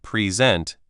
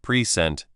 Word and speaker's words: present: For example, in the word present, if you stress the first part present, it's a gift. If you stress the second part present, it's an action.